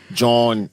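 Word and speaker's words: jawn: For those of y'all don't know, John is what they say in Philly. It's like um it's an alternate dialect pronunciation of joint.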